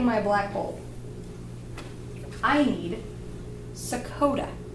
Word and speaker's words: sakota: way I say it it rhymes with Dakota like nor North Dakota or South Dakota that may not be the right way to say it though it kind of sounds like a state but it's not a